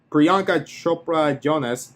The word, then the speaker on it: Priyanka Chopra Jonas: Priyanka Chopra Jonas, as Noel B said, just kicks ass in every scene. And yes, I did pronounce it correctly.